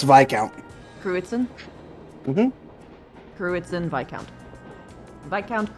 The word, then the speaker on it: Viscount: My father, Viscount Arcide, governs the town, which itself is a part of the Cruzen province. Oh, wait. What was it again? Kruitzen. Also, it's Viscount.